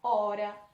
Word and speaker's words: hora: E o H no início das palavras, ele não tem som, ele é mudo, ok? Se eu tirasse a letra H da palavra hora, não mudaria a sua pronúncia.